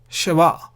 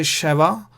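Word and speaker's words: שְׁוָא: rest of the category which is shiva you can say shava or you can just ignore a there and say it's one and the same shiva what is this shiva it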